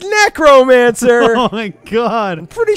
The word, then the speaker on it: necromancer: And he's like, yeah, my favorite class is the Negromancer. Whoa. And I'm like, whoa. I'm like, just. Whoa. I always pronounced it Necromancer. You know, like necrosis or necrophilia.